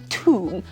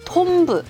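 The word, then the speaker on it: tomb: 나면은 하는 그 투입니다 툼 암이라고 발음을 하셔야 돼요 톰브 톰브 이렇게 발음하시면 진짜 무덤을 갈 수가 없게 될 것입니다 rational rational입니다 이유 근거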